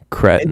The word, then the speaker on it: Cretton: Daniel Destin Destin Daniel Daniel Cretton Dustin Daniel Destin Daniel Daniel Cred.